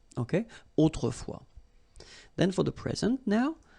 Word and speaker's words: autrefois: in olden times, okay, autrefois, so A-U, autrefois, final S not pronounced, okay, autrefois.